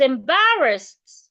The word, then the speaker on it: embarrassed: I was embarrassed. The ed sounds like a T.